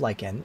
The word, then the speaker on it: lichen: There's over 500 different species of lichen, and I'll say lichen, by the way.